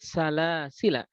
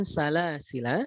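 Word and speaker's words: سلاسلا: Karena dia bisa dibaca dengan dua wajah. Karena bisa dibaca dengan dua wajah. Apakah dengan isbat ataukah dia menetapkan sehingga dibacanya dengan salasila, atau bisa dibaca dengan salasil, tidak dipanjangkan.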